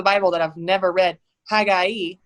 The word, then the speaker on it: Haggai: that I've never read, Haggai, which I didn't even know that's how you say it.